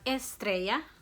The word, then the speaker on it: Estrella: is Spanish for star so I'm gonna I'm gonna say it like Dora would say Dora the Explorer the star la estrella so the star la Estrella Estrella star now you learn a